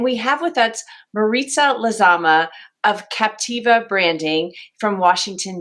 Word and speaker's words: Lizama: and advertising and we have with us maritza lazama of captiva branding from washington dc welcome marita thank you congratulations on pronouncing my name correctly my maiden name is